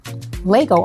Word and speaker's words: Lego: was utilizing is at actually call Legos but actually he said there's no s it's just Lego anyway guys excuse my